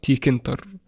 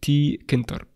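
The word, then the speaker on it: Tkinter: تنطق تي كنتر بهذا الشكل، تي كنتر، كلام سليم.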